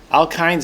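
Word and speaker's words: alkynes: and the alkes would have a triple bond alkin is spelled with a Y it's KY NES and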